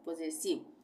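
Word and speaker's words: possessive: उच्चारण आई नहीं होगा, यहाँ पे इसका उच्चारण ई हो जाएगा, यानी ये आई वी ई इव हो जाएगा, पोजेसिव।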